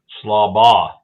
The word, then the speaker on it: Schlabach: How do you say Travis's last name? Schlabach. Travis, confirm. Schlabach. Oh. No K on the end of it.